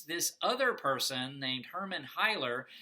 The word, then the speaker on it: Heilner: other person named Hermann Heiler, and Heilner, I think is how it's more closely how it's pronounced, is sort of this